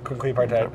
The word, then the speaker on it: Quinquepartite: do you how do you say Quin partite Quin partite okay and this is the fifth of your